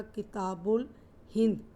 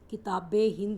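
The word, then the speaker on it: كتاب الهند: और अल ब्रूनी द्वारा जो बुक लिखी गई उसका नाम था किताबुल हिंद। किताबे हिंद भी बोलते हैं इसको, किताबल अल हिंद भी बोला जाता है। किताबे हिंद ही ज़्यादा प्रोनाउंस होता है ये वर्ड।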